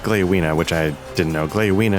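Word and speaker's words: Gléowine: Leowina speaks the truth in this. Okay, so it's pronounced Gleowina, which I didn't know.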